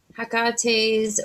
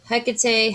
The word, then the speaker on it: Hecate: touched on oh yeah hakate's wheel hecate hakate tomato tomato i am a firm believer some people will say that's not how you say it however you want to